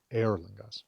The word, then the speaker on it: Eorlingas: Uh, because words in Old English and Old Norse are emphasized on their first syllable. So, no matter how long the word is, you still emphasize that very first bit. Eorlingas would be more appropriate.